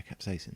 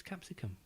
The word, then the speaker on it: capsaicin: Yeah, capsaicin. I thought it was capsicum. No. Capsicum. No, that's the Latin name for a pepper, Capsicum. isn't it? Yeah. Capsicums. Capsaicin is the compound, the chemical compound that's hot.